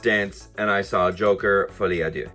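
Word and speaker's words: Folie à Deux: and I saw Joker F ad do now that is also how you say it not fly ad do all you americ amans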